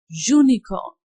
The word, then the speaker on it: unicorn: But in these other three words uniform, unicorn and unity, zu is producing sound. That is a consonant sound.